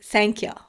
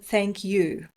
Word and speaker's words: thank you: For example, most native speakers don't say thank ya. Most of us clearly pronounce the U in thank you.